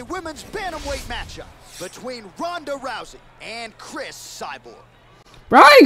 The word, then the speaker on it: Ronda Rousey: that bro let's go ronda rousey yeah ronda rousey that's how you say it yo yo i'm